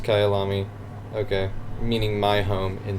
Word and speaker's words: Kyalami: it is I'm just when the Wikipedia page yes pronounced Kayal ami okay meaning my home